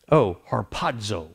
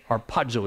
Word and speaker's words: harpazo: the Greek word um harpazo it's it's h-a-r-p-a-z-o harpazzo harpazzo is how it's pronounced or Pazzo and and this means to